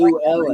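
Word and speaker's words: Llewellyn: Hey, do me a favor. Say Lou. Say Lou. Lou. Lou. Luluwin. No. Lou. Lou. Ellen. Lou Like Ellen. Ellen. Like Ellen. Like Lou Ellen Ellen. DeGeneres. Say Lou. Lou. Like Lou Reed. Okay. Ellen. Lou Ellen. Lou Ellen. That's how you say that word.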